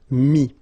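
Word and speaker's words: mis: Same thing here, final s is not pronounced, mi, okay.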